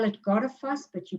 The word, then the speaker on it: Goðafoss: You spell it Goðafoss, but you pronounce it Goðafoss.